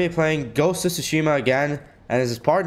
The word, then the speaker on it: Tsushima: the ghost of tush actually sushima because the te is silent I learned that because